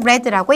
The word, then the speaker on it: read: 과거는 red라고 읽습니다.